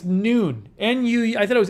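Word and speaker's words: Nuun: Oh, it's pronounced noon? Oh, it's noon.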